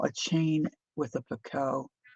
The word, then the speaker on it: picot: I say picot. Murray says picot. There's gal on YouTube that does tatting, a young gal, and she says picket. And I have since learned that picket is the American pronunciation, and picot is the like European, UK.